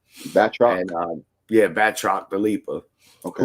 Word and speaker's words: Batroc: we now have noticed is in communication with Baltral the Leaper. I think that's how you say his name. Batroc.